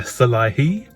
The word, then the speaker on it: Szalai: attila the hungarian so um this attila salahi and i looked up his pronunciation so i think i've got it right